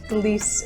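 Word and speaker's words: Délice de Bourgogne: Delice De Bourgogne is the cheese of the day, and if that pronunciation scares you, fear not, Delice is fine.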